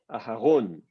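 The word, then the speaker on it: אהרן: problèmes par exemple d'abord quelle est la syllabe qui va être accentuée par défaut c'est la dernière donc par défaut c'est Aharon bon la la voyelle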